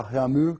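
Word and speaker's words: Réaumur: que é a escala Reamur, que nós vamos pronunciar reamur, né, que a portugues de novo, né?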